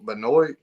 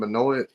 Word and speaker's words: Benoy: your show Daniel Daniel Benoy is that how pronounce his last name Beno yeah Benoy not Beno yeah yeah yeah thought